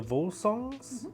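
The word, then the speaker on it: Völsungs: I believe it's called the Saga of the Volsungs. I’m just going to double check. Is that correct? The pronunciation.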